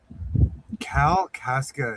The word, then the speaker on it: Kalkaska: Kalkaska is how we pronounce it.